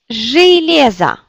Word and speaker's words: Железо: Donc on regarde que c'est accentué. Железо.